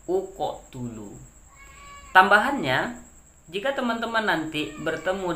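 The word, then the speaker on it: اقتلوا: Bila huruf ketiganya itu barisnya dhammah, maka berilah alif ini dhammah. Maka cara bacanya adalah uqotulu. Begitu ya, uqotulu.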